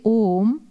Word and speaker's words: Om: So when you say Om, with 3 syllables, the creation got included.